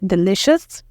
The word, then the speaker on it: delicious: As C-I-O here makes sh, And then we have us, shus, delicious. And that means very good, tasty, okay?